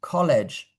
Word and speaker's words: college: When you have a G followed by E or I, so a letter G here, followed by E or I, it sounds J, college.